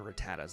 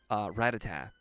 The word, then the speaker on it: Rattata: This guy's got, like, Pidgeys and Rattatas, I think. By the way, I understand that I say Rattata and Rattata interchangeably. And that's because as a kid, I always used Rattata.